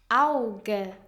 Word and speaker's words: Auge: Au, like Auge, eye. The pronunciation is like the sound you hear in wow, ow.